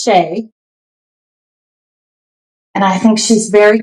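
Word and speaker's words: Shai: It might be Shy. It's spelled S H A I. But I think it's Shay.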